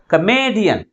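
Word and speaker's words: comedian: syllable from the last how we articulate this word కమేడియన్ A syllable ఎక్కువ force గా పలుకుతుంది last నుంచి మూడవ సిలబుల్ మిగిలిన సిలబస్ కంటే ఎక్కువ ఫోర్స్ గా పలుకుతుంది కాబట్టి ప్రైమరీ స్ట్రెస్ ని లాస్ట్ నుంచి మూడో సిలబుల్ ముందు ఉంచాలి అంటే అర్థం ఏంది ఏదైనా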